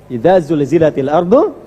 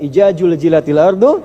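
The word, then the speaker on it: إذا زلزلت الأرض: Yang repot kalau baca idaz zul kan. Idza zulzilatil ardu zilzalaha. Ada yang bacanya sambil dijilat-jilat. Ijajul jilatil ardu. Ah. Ah. Itu yang keliru, itu yang tidak tidak tepat ya.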